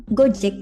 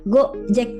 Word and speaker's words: Gojek: Orang Indonesia kan biasa bilang Gojek gitu. Kalau misalnya pakai spasi itu kayak gitu go jack.